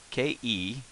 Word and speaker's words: け: The character we're going to learn next, KE is the romanization on it. Now this is pronounced K, as in special K, cape, kangaroo, K. The story, what we want